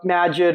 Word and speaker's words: Magid: Uh, Majid or Majid. Majid. Majid. However you want.